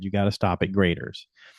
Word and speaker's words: Graeter's: And everybody said you got to stop at graders. It's spelled g r a t e r apostrophe s.